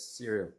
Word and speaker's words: Cyril: Is it Cyril? How do you pronounce the name? Yes, Cyril.